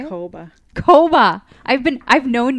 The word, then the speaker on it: Kouba: podcast we have a guest we've got kuba with inspired signals so welcome thank you for being on did I say your last name wrong yeah okay how do you say Hova Hova I've been I've known you for what